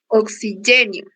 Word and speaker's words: oxigênio: Temos aqui a sílaba gen, acentuada graficamente, indicando que é a nossa sílaba tônica, certo? E esse nho, ele será pronunciado tudo em uma sílaba só, oxigênio, certo?